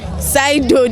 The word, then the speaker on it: pseudo: Sido, the P is silent.